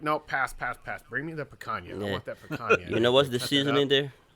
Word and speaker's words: picanha: Picanha?